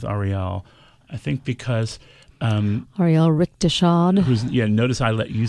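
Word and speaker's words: Rechtshaid: I think because Ariel Richteshad. Notice I let you say the name because I didn't want to embarrass myself. I always call him Richteshad, and he's like, "That's not how you pronounce it."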